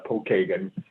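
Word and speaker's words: Pokagon: you yeah it's uh actually we pronounce that uh paul kagan so i imprints pokemon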